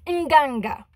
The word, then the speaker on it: Nganga: Like, the first half is the same as the second half. You literally sound it out, people. Like, Nga, Nga, Nganga.